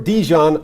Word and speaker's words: DeJean: He wants it said Cooper Dijon like the mustard.